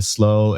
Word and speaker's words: Slo: at at slow so we do proun it just slow it's the easiest my